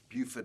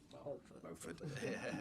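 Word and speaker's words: Beauford: There was a conference a few years ago on Buford, as the Americans say. We say Beaufort, but Americans will say Buford.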